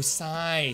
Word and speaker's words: Scythe: Yeah, Kes doesn't know how to pronounce Sith. What do you mean I don't know how to pronounce it? The Y makes an I sound.